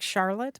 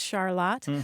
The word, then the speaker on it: Charlotte: Charlotte and being surprised that it looked like Charlotte but it's pronounced Charlotte well we got a lot of responses from